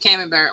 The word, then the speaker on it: Camembert: Okay, that's how you pronounce it, Camembert.